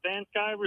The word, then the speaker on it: Van Sciver: Van Sciver is exactly what it is.